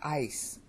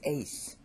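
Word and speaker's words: καί: I learned it wrong, this word here is not ice, it's ace. That's classical Attic Greek pronunciation, and that's the way it should be said.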